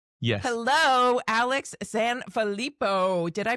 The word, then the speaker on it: Sanfilippo: Hello, Alex Sanalippo. Did I pronounce that correctly?